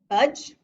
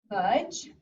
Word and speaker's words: budge: Has magic E shooting sparks over, but landing on dippy duck, who is silent. We hear one vowel sound, the budge, so that's one syllable. The U is a short vowel sound, and that makes it a closed syllable word. And we also have blue magic for budge. The GE says J.